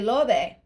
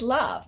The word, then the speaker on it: love: Mexicans say lobe, and I'm like, no, it's love, because they read it phonetically.